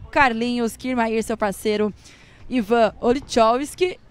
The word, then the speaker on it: Olichowski: Vieram aqui três vezes pra falar como que se pronuncia o nome do... Eu errei, você errou também. Não, é Olichovski. Parece que é o... Então, agora também eu já não sei, mas... É o Ivan. Olichovski.